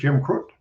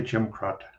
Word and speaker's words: Krut: the square in town and he said here's Jim Crook and I said well it's actually Jim crott but uh you know we'll go with that